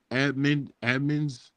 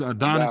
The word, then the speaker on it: Adonis: It's Adonis. Adonis, Okay, it's spelled Adonis, Carlos yeah. Adonis. okay. It's spelled a little different than I thought.